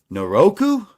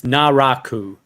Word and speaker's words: Naraku: According to Google, the pronunciation is Naraku.